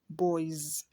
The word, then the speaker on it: boys: We have boy, ends with a vowel, oi. The plural will be what? Boys.